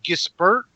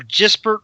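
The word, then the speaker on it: Gispert: pronunciate this but it's I always say get spurt or dispert whatever g-i-s-p-e-r-t it's like a French gesbert it's with like a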